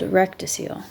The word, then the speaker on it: rectocele: or cystocele, or of the rectum and posterior wall of the vagina called rectocele.